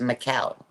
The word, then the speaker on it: Michel: He's Greek, but it's pronounced Muel, but his name is spelled M I C H E L.